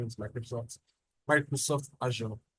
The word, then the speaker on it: Azure: person pronounce it as a right but the pronunciation is Microsoft Microsoft Azure right that's station second largest um um plow